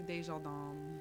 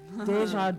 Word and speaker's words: Dejardin: It's actually Dejardin. Desjardins. But that's the French way to say it.